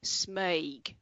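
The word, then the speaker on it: smøyg: through it y g so the o with the slash through is an er sound and then you've got the e from the y as well so it's smaig right got that yep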